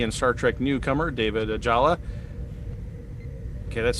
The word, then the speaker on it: Ajala: star trek newcomer david ajala okay that's spelled differently is that because i'm pronouncing it wrong is it a jayla no you're right ajala okay in the trailer